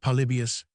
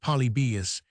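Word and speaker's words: Polybius: Trajan, and the Antonine, stumbling at Palibius, pronounced Polybeus, and supposed by Mr.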